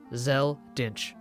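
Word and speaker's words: Dincht: So it seems when localizing they took some creative liberties by adding a CHT at the end of Din. But in English, if that was a real surname, that T would in fact be silent. It would be, without debate, Zell Dinch.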